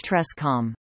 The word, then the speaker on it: TRSSCOM: research ship special communications or trsscom pronounced trescom this earth moon earth